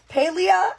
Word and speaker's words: Paralives: So, you're telling me that they're coming out here and most Sims players have passed on to Paleia is how it's pronounced. I call it Paleia.